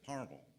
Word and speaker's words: Palmersville: near to us that if you live there, you pronounce it Parmal. If you read it, it says Palmersville.